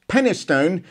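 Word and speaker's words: Penistone: all right stop giggling it's actually pronounced pennystone and stocksbridge and she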